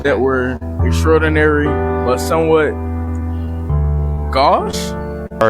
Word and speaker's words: gauche: Okay, I will say I also never heard that word before, but it's pronounced gauche.